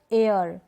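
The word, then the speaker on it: heir: Our, honest, honour, एयर, ये जो spellings है ना यहाँ पर शुरू में है H और वो क्या है, साइलेंट है, नहीं पढ़ा जा रहा, नहीं बोला जा रहा, इसको हम प्रोनाउंस नहीं कर रहे।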